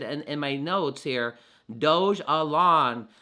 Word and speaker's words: Dogelon: in my notes here doge alone not um not doge elon because of the word